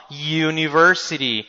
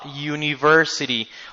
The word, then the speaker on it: university: I work at a university why if we have a u if you pay attention the pronunciation of this letter is a consonant sound Yu Yu like a like a y in Spanish uhhuh or like a